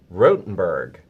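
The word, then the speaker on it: Rothenburg: And this is it Rottenberg, or do you pronounce it Rothenberg? Rotenberg.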